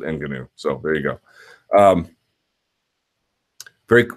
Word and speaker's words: Ngannou: Okay, well, people who want to pronounce it that way can. I'm going to pronounce it Ngannou.